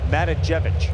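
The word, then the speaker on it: Matijevic: Yeah, Matajevic.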